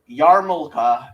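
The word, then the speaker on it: yarmulke: Uh, Yarmulka is spelled Y A R. Yes, there is an R in there for no good reason. M U L K E. Yeah, it's like that other L in R in February or whatever.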